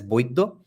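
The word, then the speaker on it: বৈদ্য: In Bengali, we pronounce Vaidya as Boiddo, therefore it's Brahmon, Boiddo, Kayastha.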